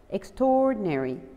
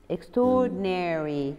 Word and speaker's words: extraordinary: like this extraordinary extraordinary we don't pronounce the ah here we don't pronounce the letter extraordinary extraordinary okay and yes it